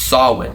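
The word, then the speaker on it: Samhain: So I looked it up and it's pronounced Sawin. So the Celtic Sawin Festival.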